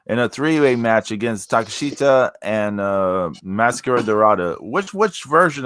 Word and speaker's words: Takeshita: Takeshita. I always say like take a shitta.